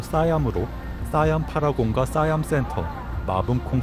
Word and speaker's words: 시암: 시암은 태국 현지 발음으로 싸얌으로 싸얌 파라곤과 싸얌 센터, 마분콩 센터, 센트럴 월드 등 대형 쇼핑몰들이 모여있는 곳입니다.